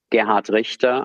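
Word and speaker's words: Gerhard Richter: and influential artists so Gard Richa I'm pronouncing this deliberately in German and not in my German American accent is basically a foundation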